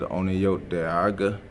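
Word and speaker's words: Onʌyoteˀa·ká·: In our language, we pronounce it Onayote Aga, people of the Standing Stone.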